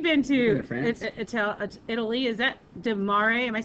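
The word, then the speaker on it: frutti di mare: It's the seafood fruity de mare, or mare. I don't know. David, you've been to Italy. Is that de mare?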